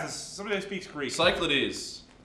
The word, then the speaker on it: Cyclades: How do you pronounce this? Somebody that speaks Greek. Cyclades. Cyclades.